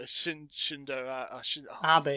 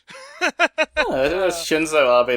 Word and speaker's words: Shinzo Abe: They're secretly working for Shindo Abe. Fuck. I can't even say... Abe. Yeah, Abe. Shinzo Abe. See, even you can't fucking do it! Ha! Shinzo Abe, that's Shinzo, that's how you pronounce it.